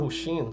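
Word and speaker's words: Wu Hsin: Vou chamar Hu Xin, que é a pronúncia correta.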